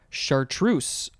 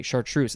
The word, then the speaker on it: chartreuse: our next word is chartreuse or you could make that s sound as z chartreuse uh i shall say chartreuse this one is spelled